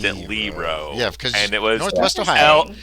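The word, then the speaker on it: Leroit: The only reason I said that is because my grandmother's maiden name was was Lero. They pronounced it Lero and it was L E R O I T.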